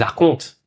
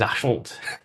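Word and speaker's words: archonte: Les arcontes. Maintenant que je sais le mot arconte maintenant je vais passer dans tous les mots. Enfin, je sais comment le prononcer. Avant je disais les archantes.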